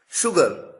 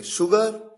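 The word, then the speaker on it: sugar: शुगर ध्यान दीजिए यहां पर केवल एस आया। एच तो आया ही नहीं। लेकिन उसके बावजूद प्रोनंसिएशन में उच्चारण में शलगम वाला श है। तो देखिए शुगर श्योर और एग्जांपल्स आपके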